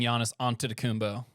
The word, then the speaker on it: Giannis Antetokounmpo: I'm not choosing Giannis Antetokounmpo. I'm choosing Joel Embiid. Oh. You guys like that pronunciation, by the way?